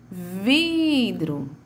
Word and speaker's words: vidro: Ou seja, é a minha penúltima sílaba, certo? Então, a palavra de maior tonicidade, a sílaba de maior tonicidade na palavra vidro é a vi, né?